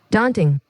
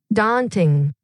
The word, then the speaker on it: daunting: daunting, ইউ, এই Yuta আসলে silent হয়ে যায়। daunting, daunting, ডান্টিং অর্থ হচ্ছে কি?